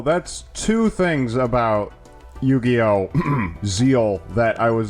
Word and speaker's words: Zexal: Zeal Arc and yes I'm going to be pronouncing it Zeal despite the fact that it's spelled zexel [